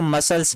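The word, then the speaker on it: muscle: पर देखिए इसके बाद तुरंत ऐसी तो इसको मसल्स बढ़ेंगे मसल्स आपको पता ही है यह कैंची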